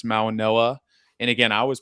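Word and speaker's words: Mauigoa: G, so I was like Mauagoa, and Yeah. it's Yeah, it's Mauanoa. it's a it's an odd pronunciation, but yeah.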